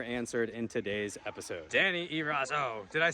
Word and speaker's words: Eraso: questions and more answered in today's episode Danny erazo did I say your last name right that's